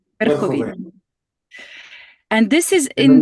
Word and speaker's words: Верховина: in a city which I will try to pronounce, Verkhovina. Verkhovina, is that correct? Верховина. Verkhovina.